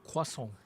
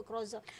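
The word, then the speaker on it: croissant: Datuk cuba you pronounce theason tu in in the French word. A dia kuason kuasong. Kuason. Kuason. Itulah husband I selalu marah. Ayat sebut croza. No, it's croz.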